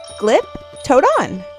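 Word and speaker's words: Glyptodon: Giptoadon.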